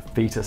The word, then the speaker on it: foetus: to the developing foetus a fetus i know it's fetus but it is spelled weird isn't it and possibly lead